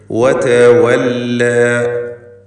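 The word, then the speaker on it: وَتَوَلَّى: വാവുകൾ 2 ചുണ്ടുകളിൽ നിന്ന് തന്നെ വരണം. വതവല്ല എന്ന് താഴെ ചുണ്ടും മേലെ പല്ലും ചേർത്ത് പറയരുത്. വതവല്ല.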